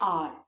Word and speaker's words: hour: HOUR, इसको हम pronounce करते हैं आर। एच इसमें साइलेंट होता है, इसमें किसका साउंड आता है? ओ, आर, है ना। HOUR, आर बोलते हैं।